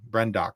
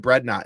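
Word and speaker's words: Brendok: uh bradnock and see brenock that's the name of it brenock I keep calling it brnot in my head and I I think it's funny but the problem is that screws up the actual pronunciation of brenock uh when I'm trying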